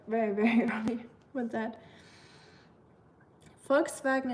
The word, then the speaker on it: Volkswagen: Volkswagen it is, yes. It's really really easy to pronounce, I think. Just um know that the V is a like an F for us.